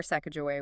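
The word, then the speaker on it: Sacajawea: They prefer Sak Joey with the J.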